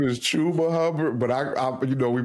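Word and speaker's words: Chuba Hubbard: His real name is Chuba Hubard, but I you know we play around.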